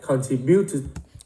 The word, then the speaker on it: contributed: Since then, he has contributed. Nhấn vào tree cho con. Cái này trọng âm 2. Contributed.